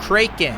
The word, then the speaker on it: Kraken: what can I say this is the way I pronounced it Kraken and I think it's accurate right look at that I